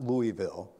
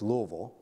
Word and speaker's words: Louisville: to remember the house how to pronounce it-it's not Louisville its Louisville all right Louisville say